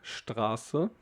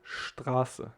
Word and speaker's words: Straße: So we will say Straße and not Straße. So keep in mind, Straße. It doesn't matter if it's only an S and T. We will pronounce it like st.